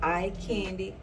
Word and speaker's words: EyeQandy: It's called EyeQandy Jewelry Creations by Sweetz. EyeQandy, Candy being spelled with a Q.